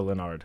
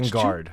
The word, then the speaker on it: Lingard: other day yes Lorenzo lonard um and so that's lingard lingard lingard I forgot the G well sometimes you know that's silent G for a lot of names whatever uh lingard yes